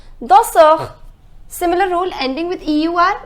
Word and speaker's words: danseur: The pronunciation is danseur.